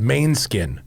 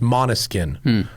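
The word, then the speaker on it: Måneskin: I texted him and I go, someone's probably already told you this, but it's pronounced, I spelled it, I said like monotone, but mono, and he goes, actually I didn't know that.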